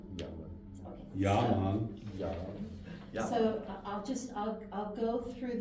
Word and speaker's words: llaman: Okay, and the double L in the first measure at the bottom of 3 is a Y. Remember, llaman. Okay. Yaman.